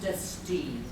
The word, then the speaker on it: Destine: It's pronounced Destine.